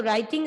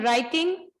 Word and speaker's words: writing: So in writing, in the spelling writing, in the word writing, the letter W is silent.